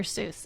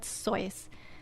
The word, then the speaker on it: Seuss: Seuss. And yes, he pronounces it Seuss, rhyming with voice.